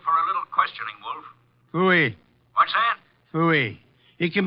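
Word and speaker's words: pfui: you down here for a little questioning wolf FY what that FY it can be spared in several ways I spell it PF UI Foy you think I won't bring you down here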